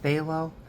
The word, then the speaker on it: phthalo: that has the word phthalo in it which starts with the letter P but it's pronounced phthalo I love and here